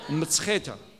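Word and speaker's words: მცხეთა: Georgia, which was capital until 5th century, called Mtsheta. I know it's very easy to pronounce. So. Mtsheta.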